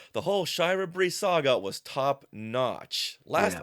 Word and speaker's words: Shira Brie: Yeah, but Scott tells us that it is officially Shira Brie, since he had asked the writer David Michelini, oh wow, how you pronounce this, and he confirmed it, Shira Brie.